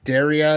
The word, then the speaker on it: Daria: Don't say diarrhea. I call it DRA, but Daria is what they it's actually pronounced is a newer company.